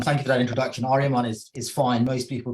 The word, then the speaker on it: Aaryaman: take this opportunity to connect correct my awful pronunciation no thank you Robert um thank you for that introduction aryaman is is fine most people call me